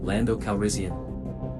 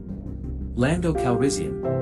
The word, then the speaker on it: Calrissian: more likely the accusation lando calrissian flatten the first a bit lando answer more bravely than he felt a little more accent on the second syllable of the last name keep trying you'll get